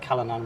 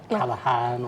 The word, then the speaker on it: Callanan: pronunciation of my surname most people get Kalan wrong it's like kalahan or something I'm glad we did